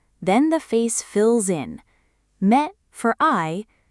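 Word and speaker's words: 目: Now two readings will feel wrong. Me is just me. Ha is just ha. One syllable each and your brain will insist a real word must be longer. Don't let it. Those are exactly right.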